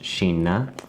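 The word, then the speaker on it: Kina: with pronunciation in Swedish this would be pronounced Sheena which is also the word for China and you see this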